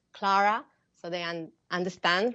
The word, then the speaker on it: Clara: don't miss out and now our conversation with Clara washauer welcome back I'm and I'm